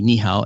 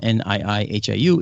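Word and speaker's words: Niʻihau: So nihao would not be nihao, Niihau. It's niihau, that kind of thing.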